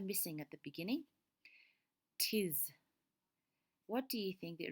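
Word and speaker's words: 'tis: Okay, so he's missing the letter I, and instead of saying it is, which have two syllables, he says tis to make one syllable.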